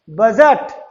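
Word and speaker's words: budget: तो आपको फिर से ध्यान रखना है, जब जी से पहले डी आ जाए तो डी साइलेंट हो जाएगा।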